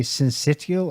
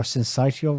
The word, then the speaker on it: syncytial: the last week rsv respiratory i need to pronounce that respiratory syncytial or syncytial virus long lone right it's got still got